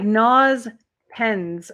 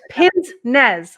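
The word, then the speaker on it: pince-nez: it wrong it is oh it's pins Nez I got it backwards pince as in like pincer uh Nez as in nose and that's what they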